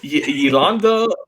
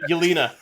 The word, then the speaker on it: Yelena: Yolanda Belova. I think that's how you say it. Yelena.